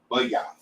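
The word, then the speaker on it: bayath: Correction is b a y a t h bu not boy.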